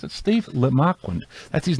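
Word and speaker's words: Le Marquand: I had a Steve Lemarquand, that's how you pronounce it. Steve Lemarquand, that's his name.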